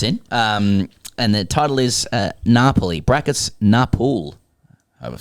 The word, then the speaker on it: Napoli: All right, Tino writes in, and the title is Napoli, brackets Napul.